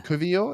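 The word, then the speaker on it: Kiwior: w r o yeah Kio is it k k yeah because in po polish and German you pronounce the W's as like V's almost so K okay there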